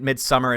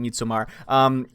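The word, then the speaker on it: Midsommar: overall made some our mid midsummer is how you pronounce it I like saying meet Samar it's again a movie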